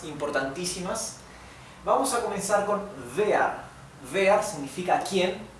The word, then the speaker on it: wer: esto es vi también Recuerden que la W alemana se pronuncia como una V española Sí y vas vas